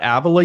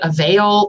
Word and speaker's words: Avila: You said it right. What do people say? Avila. I've heard it all. People have called it Avail. That's an thing, I think. Avila is probably the most common one.